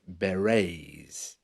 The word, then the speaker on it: beret: were called the red beret b e r e TS you know the Beret is a type of hats where the t is silent they were basically peacekeepers